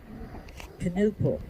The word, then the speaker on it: Knuppel: And in 1892, he married, this is Vic now, Ida Knuppel, and they had 8 children. Knuppel, okay. They did pronounce the K on that, okay.